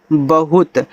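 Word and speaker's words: bahut: बी एच यू टी बहुत।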